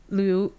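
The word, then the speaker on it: Luo: wait I remember looking up how to properly pronounce his name it's um it's it's a no it's not Liu it's Lulu yeah it's kind of like loose he runs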